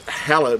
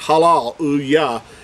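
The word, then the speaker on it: הלל: word this word here which everyone is familiar with it's hella but it's halal is the way this word uh and we say it in english hallelujah but it's it's halal how you would pronounce this word more accurately in hebrew now the word itself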